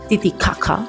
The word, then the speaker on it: Titicaca: Nos dijeron que se pronuncia así, Titiakaca.